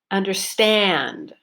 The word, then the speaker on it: understand: up and down and I had a long clear which was my stressed syllable understand understand so it was the third syllable that I stressed he doesn't understand it